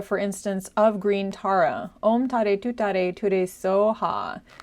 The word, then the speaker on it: Om Tare Tuttare Ture Soha: So as I said, on Thursday we're going to talk about Green Tara's mantra, which is Om Tare Tuttare Ture SOHA. That's the Tibetan pronunciation.